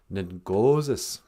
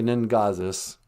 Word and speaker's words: ningozis: Ningozis. Ningozis. O's are always long. Don't say Ningazis.